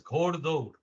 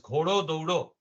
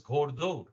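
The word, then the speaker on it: ঘোড়দৌড়: For example, here, this is read as Ghoddaud. Ghoddaud means horse race. Now, the way it is written, we could pronounce it as Ghodo Doudo. All right. But we pronounce it as Ghoddaud.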